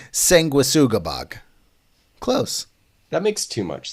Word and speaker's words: Sanguisugabogg: Moving on, we got a new one from a band I'm gonna assume is pronounced Sanguisugabogg? Nope. Sure. Hit me. It's Sanguisugabogg.